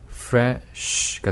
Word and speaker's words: fresh: 그래서 sh로 끝날 때는 이 모음을 넣지 않도록 합니다라는 네.